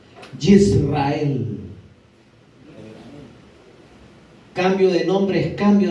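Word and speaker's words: ישראל: nombre será llamado, y se lo voy a pronunciar en hebreo, Yisrael.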